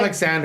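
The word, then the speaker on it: Oleksandr: It's and I- Alexander Usyk. Oh, yeah, Oh, it's can't- it's spelled with an O, but it's Alexander.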